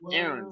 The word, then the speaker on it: Aran: Sharon, and I'm Aaron. Wow. So actually, my name is spelled Aran. Mhm. Sharon is spelled Sharan, and Mhm. Karen is spelled Karan.